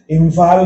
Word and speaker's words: इम्फाल: हम देख सकते हैं जैसे चंपक में प के पहले बिंदी आई है, इम्फाल में फ के पहले बिंदी आई है और ये सब म का उच्चारण कर रही है।